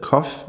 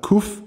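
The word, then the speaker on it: קוף: bogstav, bogstavet kof eller kuf, som det udtales på moderne hebraisk.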